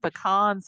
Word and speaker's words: pecans: Pecans. She said it right. Yeah. Not pecan like they say up here.